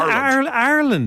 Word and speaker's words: Ireland: head in they're saying Ireland yeah it's like the letter r with land yes what when did